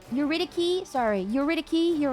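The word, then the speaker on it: Eurydice: Um um it's pronounced a hard C like Dicki. Uritici.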